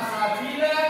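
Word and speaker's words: سَبِيلًا: Jadi membacanya bukan sabilan tapi sabila karena ada waqafnya, bukan sabila.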